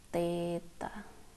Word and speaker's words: theta: Panjang itu dimensinya L, waktu T, massa M, suhu itu theta, ini bacanya theta.